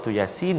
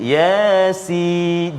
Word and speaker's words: Yasin: Jadi kena hati-hati. Yasin. Jangan ya tu panjang. Yasin. Salah. Ya tu 2 harakat saja. Jangan 2 rakaat. Yasin.